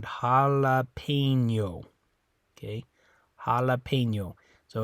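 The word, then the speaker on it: jalapeño: the difference here but it does sound a little different in English than it does in Spanish when you pronounce it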